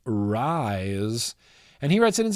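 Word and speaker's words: Rhys: We got Rise, R-H-Y-S. I believe the name is pronounced Rise.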